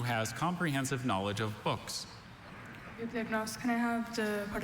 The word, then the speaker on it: bibliognost: Bibliognost, can I have the part of speech? Noun. Bibliognost, can I have the... Are there any alternate pronunciations? Just the one, bibliognost. It's a noun from originally Greek parts.